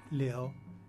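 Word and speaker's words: 流: obstruction it comes from flow pronounced leo and the phonetic shu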